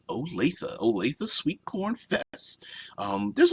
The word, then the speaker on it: Olathe: Oh, Olathe. I apologize for that. It's pronounced Olathe.